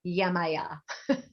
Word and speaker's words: Yemaya: So I want to say that you mentioned Yemanya, or you pronounced it differently. What is the correct pronunciation? There are different pronunciations depending on what land. If you're Brazil, if you're African, if you're American, Yemaya.